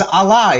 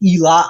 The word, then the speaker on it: Allah: So the alpha and the omega, it says Allah. It does not say Elah at all.